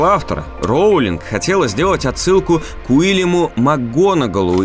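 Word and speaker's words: Макгонагалл: также верно указали на неправильное произношение фамилии макгонал прозвучавшая как макконгал профессора макконагау сразиться с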